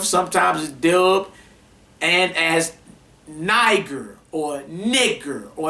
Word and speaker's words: Niger: up let's go this the Greek 3526 Niger pronounced Niger M of Latin black black